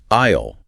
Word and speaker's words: aisle: Look down the long path and think aisle with a silent S.